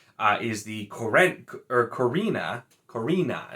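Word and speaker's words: Corenne: the koren or korrina korina is what it is even though there's uh only one e there and it's just like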